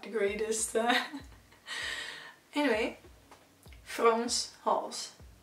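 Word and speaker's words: Frans Hals: not the greatest anyway france halls so it's not france it's france france halls so not hell's halls you know the painting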